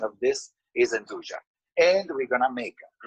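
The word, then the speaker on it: 'nduja: the calabrese so yuja is actually the right pronunciation of this is anduja and we're going to make it stuffed with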